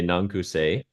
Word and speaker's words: N/a'an ku sê: So if we cut out and do the very English version, we can say Nankuse, and then we leave people to Googling the real deal.